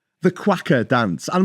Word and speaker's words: cueca: No, it's spelled Cueca. Quacker. So yeah, it's not spelled like quacker like a duck.